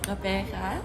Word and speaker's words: Gqeberha: Okay, so our city's new name is Gqeberha.